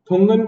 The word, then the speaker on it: Thungon: अगली है थुंगन कमेटी। इसे थंगन भी बोलते हैं और थुंगन भी बोलते हैं, जो भी आपको ठीक लगे, स्पेलिंग याद रखिएगा, THUNGON, थुंगन कमेटी।